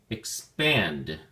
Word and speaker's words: expand: look at your flashcard expand has two syllables and the emphasis or stress is on the second syllable pant so we say expand expand it is a